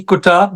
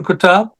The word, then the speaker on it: Qutab: last name again doctor q u tab B kab Dr kab most of my patients call me Dr